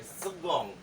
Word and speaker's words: seconde: ini ordinal juga ya, segong. segong. Cara ucapkannya sama. Segong, segong. Ini D-nya agak diberikan tipis-tipis manja.